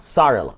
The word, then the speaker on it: sorrel: You gotta say it like a Jamaican. What? Sorrel.